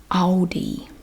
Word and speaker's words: Aldi: l l o d so it's not really a change in the pronunciation it's just a change in the way your mouth is shaped aldi aldi and i know in other parts of the world it's pronounced differently but that's how it's pronounced in the usa this is one of